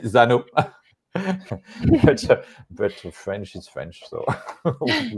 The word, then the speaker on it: Xano: and and we web in French we we we pronounce but but I know that prash pronounce Zano the good one is probably Zano but French is French